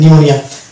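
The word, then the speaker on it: pneumonia: পিএন যদি পাশাপাশি থাকে তাহলে কিন্তু এরকম একটা ওয়ার্ড রয়েছে, যেমন নিমোনিয়া, শব্দের শুরুতে যদি পিএন থাকে তাহলে সেক্ষেত্রে আমরা পি কে সাইলেন্ট ধরবো এবং এম দিয়ে উচ্চারণ করবো, অর্থাৎ এটা হবে নিউমোনিয়া।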